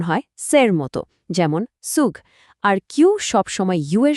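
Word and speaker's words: Zug: জেড এর উচ্চারণ হয় সের মতো, যেমন সুগ।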